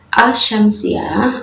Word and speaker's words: asy-syamsiyah: namanya assyamsiah ini kan Al dengan Syamsiah ini membacanya aja sudah asyamsiah ya Jadi assyamsiah ini kan awalnya tidak dibaca Jadi udah dimasukkan atau